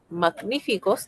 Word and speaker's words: magníficos: Magníficos lleva tilde. Claro que sí, porque magníficos es magníficos. Es una palabra esdrújula.